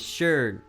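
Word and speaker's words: schön: that I'm like ah if there's two dots it's above a word you say it like you've lost brain cells that's how that makes sense I get it now right so like if you if if if you look at the word beautiful in German and there's even a a song that does this but the word for beautiful in German is sh right and it's spelled s c h o n but it's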